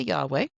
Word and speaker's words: Yahweh: name that we're not exactly sure of the pronunciation. Some people say Yahweh.